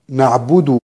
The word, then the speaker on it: نعبد: كلمة نعبد، بعض الناس يسكن الدال عند الوصل فيقول إياك نعبد وإياك، وهذا خطأ. الصحيح أن الدال مضمومة عند الوصل، ننتبه إلى ضمة الدال، والمضموم لا يكون إلا بضم الشفتين، ضمه لابد أن تضم